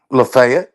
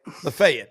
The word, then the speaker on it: Lafayette: How do How do you pronounce it down there, y'all? Locals. Lefayet. Lefayet.